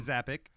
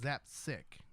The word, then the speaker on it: Zapcic: Zappic. Mike who? Zappic? Zapzik. That's what I said the first time. Zappic? Zapsic.